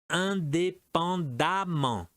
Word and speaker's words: indépendamment: Indépendamment. D, plaisant, plaisamment. Et E, excellent, excellemment. Toute cette colonne se prononce amant, excellemment.